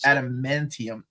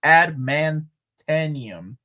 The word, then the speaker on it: adamantium: I used to pronounce adamantium as adamantanium until X-Men the Animated Series, and Darkseid until JLU.